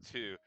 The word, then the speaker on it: Tyr: pronounced two.